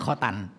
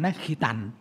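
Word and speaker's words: ขิตาน: ยวี น่ะ นะ แล้ว บาง คน เรียก คอตัน ไม่ คอ ตั นะ ขิ ตัน อั ขีตา ออก เสียง คือ ขีตา ค ควาย สริ ต เต่า สน หนู เลย ขี ตาล ขี ตาล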